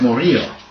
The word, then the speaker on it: Murillo: Yeah, Murillo, but it's pronounced Murillo. Because the LL is a Y pronunciation.